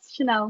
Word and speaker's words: Chanel: And with us, we have a girl or a woman whose name is Chanel. Did I say it right? Yes, Chanel.